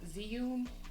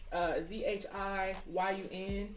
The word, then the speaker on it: Zhiyun: I use my, I think it's called or pronounced Zhiyun. I think it's called that. It's Zhiyun, and I love this thing because it's a camera stabilizer and it's just really smooth.